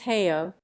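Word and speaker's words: Haigha: Happy his name is heyo he pronounced it so as to rhyme with mayor I love my love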